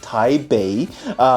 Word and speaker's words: Taipei: in Chinese is pronounced Taipei, which is spelled with a B in the modern pinyin system.